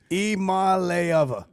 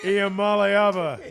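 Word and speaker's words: Iamaleava: Iamalava. Say it like Imalayeva. Iamalava. Yeah, there you go.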